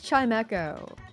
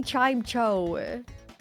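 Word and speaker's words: Chimecho: a lot of people say it as Chime Echo, but a That's lot of probably people also correct.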